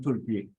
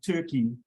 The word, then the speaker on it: Türkiye: um please note that the pronunciation of turkey has been amended to Turkey so we're going to do our best to to pronounce it correctly and and use that